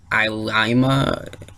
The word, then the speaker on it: Ilima: It wasn't anyone I knew, and they confirmed it today that Captain Ilima, I believe that's how you're supposed to pronounce it, Ilima.